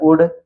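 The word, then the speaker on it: wood: इसी तरह शुड में भी आप देख सकते हैं डी से पहले यल आया है इसलिए यल साइलेंट है, सीधा पढ़ा गया है शुड। इसी तरह वुड, तो ये तीन वर्ड जो है ये डी से पहले है इसलिए यहाँ पर यल साइलेंट है।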